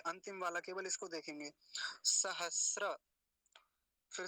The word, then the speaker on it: सहस्र: वाला केवल इसको देखेंगे सहस्र फिर से देखिए त्रि पंचा शत सहस्र त्रि पंचा शत शत बोलेंगे क्योंकि तका राधा है त्रि पंचा शत सहस्त्र सहस्त्र नहीं बोलेंगे सहस्त्र अभी जब हमारे